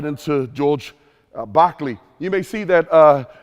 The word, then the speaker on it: Berkeley: We're going to dive right into George Barkley. You may see that uh his name looks like Berkeley, but if you know who if you've studied uh Berkeley before, you'd know that his name is pronounced Bachley.